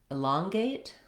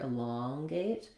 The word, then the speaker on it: elongate: letter E says I, same thing happens in elongate, where we stress on, again, the second syllable long, and we have the ah vowel here, elongate. That means our first letter E is going to say that reduced I sound, and then we have secondary stress on the gate syllable, so we still have a clear A vowel there as well.